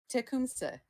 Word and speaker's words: Tecumseh: Can you say how that's Suzerain pronounced again, real quick? Tecumseh.